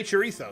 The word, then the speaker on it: chorizo: Say chorizo again. Chorizo. I pronounce it as I've been told to by Spaniards.